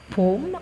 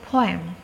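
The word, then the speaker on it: phloem: akan belajar mengenai floem jadi ini cara membacanya bukan pome atau opom Tapi bacanya adalah floem ada yang sudah menceritakan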